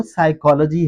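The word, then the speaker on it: psychology: अगर आप पढ़ने की कोशिश भी करेंगे तो वो गलत हो जाएगा क्योंकि एक्चुअली वर्ड तो साइकोलॉजी है जिसमें पी साइलेंट है।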